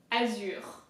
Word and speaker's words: azur: So, azure. Okay? So, damier, azure. And then the Z also is pronounced a little bit heavily. There is also a slight emphasis on the Z, but I would say